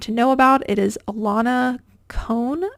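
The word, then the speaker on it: Ilana Kohn: know about it is Alana con I think is how you pronounce it um for anybody listening and not able to see the screen that's i l a n a and then cone is k o h in this is a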